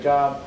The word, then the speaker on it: Job: J-O-B, looks like Job, pronounced Job.